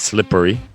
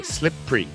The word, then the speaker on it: slippery: now now the phonic says slippery but i know a lot of people especially north america skip that e and they just say slip free again as i